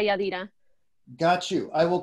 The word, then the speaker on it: Yadira: Am I pronouncing your name right? Yadira. Yes, but I go by Yadira.